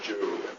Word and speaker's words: Job: First of all, let's start with the book of Job. Get your Bibles with you tonight. We open up to Job. The correct pronunciation is Job, not Job.